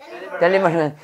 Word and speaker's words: delivery: 델리버리맨. 4학년 힘들어해가지고 다시 바꾼 거야. 좀 쉽지? 잘 외워지고 있어? 어, 잘 따라하네. 그렇지. 해봐. 델리버리맨. 자, 딜리인데요. 이는 에 발음하니까 델리버리 해도 돼요.